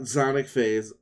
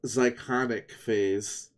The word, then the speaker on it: Zyconic Phase: Not Zonic Phase. Zyconic Phase.